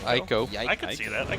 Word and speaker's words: Heiko: How do you even pronounce Heiko with the H being silent? Aiko.